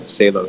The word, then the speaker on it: Salo: When they moved to America, they wanted to sound more American, so they changed the pronunciation from Salo to Salo. So either was fine.